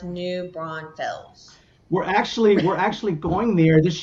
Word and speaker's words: New Braunfels: It's pronounced New Braunfels.